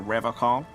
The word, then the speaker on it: Revachol: But, someone has to stay strong for Revachol. He pronounces Revachol with a hard K, unlike other people.